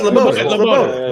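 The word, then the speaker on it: Lebioda: I just keep saying it fast. Leboida. It's Leboida. That's 100%. Leboida.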